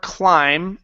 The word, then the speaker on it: climb: nice job all right here in this word climb the B is silent we do not pronounce